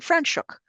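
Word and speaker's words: Franschhoek: route in the country, known as Stellenbos and Frenchuk, which are African's words. I should know I'm married to a Dutchman. He taught me how to say these words. I'm saying them properly.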